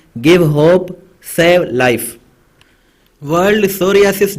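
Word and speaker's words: psoriasis: तो ये world सोरियासिस डे, सोरियासिस यहाँ पे पी जो है साइलेंट है, सोरियासिस डे 29 अक्टूबर को ऑब्जर्व किया जाता है।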